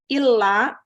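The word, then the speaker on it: إلا: Illa itu kecuali. Kalau ila, ke. Maka bacanya jangan salah. Asyhadu alla ilaha illallah. Ada tasdidnya. Kalau bacanya asyhadu alla ilaha illallah, itu salah itu. Itu yang disebut lahan jali. Salah baca. Dan sampai hukumnya haram karena merubah makna.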